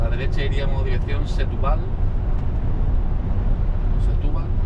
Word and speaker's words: Setúbal: Setúbal. Tiene acento en la U.